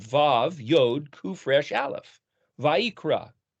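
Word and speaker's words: ויקרא: first word of The Book of levitis Leviticus it's spelled VAV yod kufresh aleph vaikra it's translated and he called but if you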